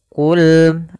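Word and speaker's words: قل: dengan Qul Hua Qul qfnya tebal ini hati-hati jangan terbaca dengan Kaf jangan Qul Hua Qul Hua ini Kaf dia harus Kaf ya qo Qi qu maka Qul Qul Qul huwallahu Ahad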